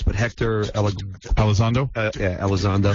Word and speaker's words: Elizondo: A guy's name I'll never be able to pronounce, but Hector Elizondo? Yeah, Elizondo.